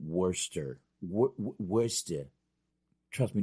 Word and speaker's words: Worcester: Worcester of Worcester Worcester it's basically you're saying Worster what wish did trust